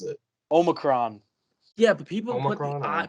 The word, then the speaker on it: Omicron: Yeah, but people Omicron, put the emphasis on the I too much. They say Omicron. Yeah? I don't like that. Just say Omicron. It's the Omicron.